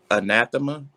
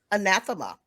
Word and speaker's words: anathema: your uh word okay i may be mispronouncing this but it's uh anathema okay and you are not pronouncing it very good anathema does it mean something